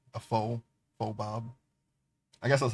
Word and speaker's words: faux: Sometimes, when I was younger, I said fox, fox bob. That's wrong though. I'm pretty sure it's faux. It's a French word, I guess.